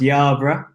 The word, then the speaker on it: Yerburgh: last name haha sure so it's pronounced Yarbrough but you wouldn't be able to get it from the spelling so yeah I'm a